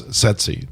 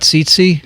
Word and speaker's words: tsetse: always appears, and that's tsetse, T-S-E-T-S-E. Great right? word. And it's an easy one to remember. Is it not tsetse? It's not tsetse. It's tsetse? It's tsetse fly.